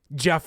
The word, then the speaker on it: Geoff: Jeff Wilkinson I don't but it is spelled like Geoff Wilkinson like that spelling of it I don't know why